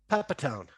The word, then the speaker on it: Pepitone: Let's start with, you're going to have to help me with the pronunciation here, JC. Joe, is it Pepitone? Pepitone.